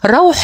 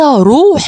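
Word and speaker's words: رَوح: بيحر في نطق الايه الايه بتقول روح الله بفتح الراء وتعني فرج الله ورحمته وليس روح الله بدم الراء كما نطقها المدلس الكذاب ولا تياسوا من روح الله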